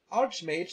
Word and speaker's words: Archmage: sell it as well the word Archmage is not pronounced with a cape I hope that up